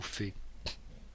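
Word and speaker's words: פ: Le P ou Fé. Alors Fé, parce que on peut avoir, donc ça peut se prononcer P ou Fé. Il y a les deux prononciations.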